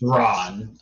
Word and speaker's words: Ran: How do you spell it? R-A-N. It's pronounced Ron.